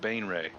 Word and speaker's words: Baenre: It is pronounced Bainre.